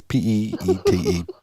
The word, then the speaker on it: Peete: Montpelier Police Chief Brian Petty or Petty, I don't know how you say it. It's Peete.